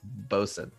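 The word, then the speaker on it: boatswain: nightcap point out that boat swain is pronounced like boson which is true we've had this discussion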